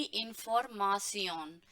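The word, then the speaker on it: Information: Last में है डी इंफॉर्मासियन, डी इंफॉर्मासियन। तो ये इंफॉर्मेशन की जैसे ही है दिखने में, वो एकदम इसकी स्पेलिंग सेम है, बट इसको आप बोलेंगे इन फॉर मासियन, राइट, इंफॉर्मासियन।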